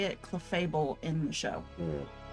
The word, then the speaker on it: Clefable: Clefable in the show.